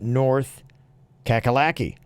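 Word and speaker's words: North Cackalacky: FYI the nickname for North Carolina is actually pronounced North kakalaki unfortunately I was raised in that [ __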